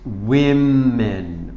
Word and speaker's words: women: more than one those women women you changed this from A to E so those women and it pronounced you pronounce it a little bit different woman women so one woman to